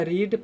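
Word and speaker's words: read: है तो इसका चकि स्पेलिंग तीनों का एक ही होता है लेकिन पढ़ने में डिफरेंस हो जाते हैं व के रीट पढ़ेंगे और ट v3 को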